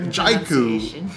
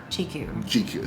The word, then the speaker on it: Jiko: Is that Jaiku is the British colonial pronunciation of what is a Swahili word. GQ.